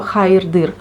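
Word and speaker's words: hayırdır: Для мусульман здесь вот есть такое слово хайрдыр. Ну, тоже, если вот вы христианин, либо вы, например, там деист, вы тоже можете использовать. Очень мощное слово, энергетически мощное. Хайр-дыр. Вот вместе произносится хайр-дыр.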